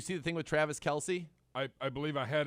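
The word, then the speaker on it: Kelce: nothing else making them always call themselves kelsey but it truly actually is kels but that is just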